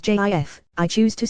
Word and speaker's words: GIF: possible legit pronunciations and since the creator said it is pronounced as jif i choose to say